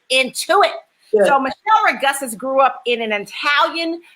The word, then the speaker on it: Michele Ragussis: This week, we are talking to Chef Michele Ragussis.